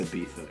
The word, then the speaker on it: Ibiza: Oh, it's Ibiza, yeah. Okay. Ibiza.